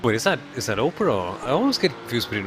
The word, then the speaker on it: Oprah: a great name and I think it's more Oprah than opra I I know I